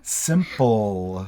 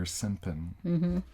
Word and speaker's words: simple: Simple. Yeah. Sometimes I hear simpin or simpan.